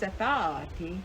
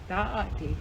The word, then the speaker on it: Aaniiih: I said, that ain't how you say it. It's Aaniiih, like that. Aaniiih, like that.